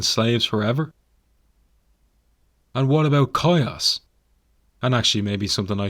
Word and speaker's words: Chios: forever and what about coyotes and actually maybe something i should note here i was pronouncing it chios in previous episodes i do